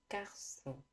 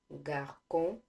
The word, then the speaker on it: garçon: For example, garçon. Instead of saying garçon, we say garçon.